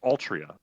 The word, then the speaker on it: Altria: So her name, when pronounced in Japanese, is Altria, is the English pronunciation of the female Arthur.